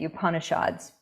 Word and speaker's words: Upanishads: brahma and yoga tatva upanishads that's how you say it you punish odds the brahma says that